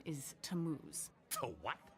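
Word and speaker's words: Tammuz: where do I find him his name is tamuz to what t a m m u z it's pronounced tamuz maybe if you show them your evidence he'll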